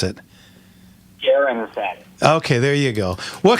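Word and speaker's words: Gehren: How do you pronounce it? Garren.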